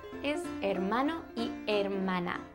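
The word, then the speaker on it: hermana: and sister in Spanish ISO Mana it starts with an H but you don't really pronounce the h do you have either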